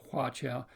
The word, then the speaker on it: huaqiao: They keep pronouncing it huaqiao or huaqiao or something of that nature. When you hear that, just think of huaqiao.